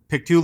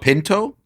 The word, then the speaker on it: Pictou: So, we are at the beautiful Pictou Lodge in Pictou, Nova Scotia, right? Is that the correct way to say it? Close. Uh Picto. Picto. It's not Pinto?